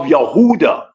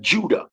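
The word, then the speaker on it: Yehuda: sins like the descendants of yahuda or Huda which is the true pronunciation of Judah Mr Marcus says the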